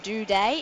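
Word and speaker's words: Doedee: the Adelaide side and Tom do de that's exactly how you pronounce it guys do day and he is the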